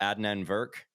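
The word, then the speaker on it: Adnan Virk: anyway um okay i want to talk about adnan verk is that how you pronounce his his name yes yeah okay uh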